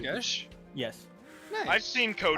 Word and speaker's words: geas: Gesh.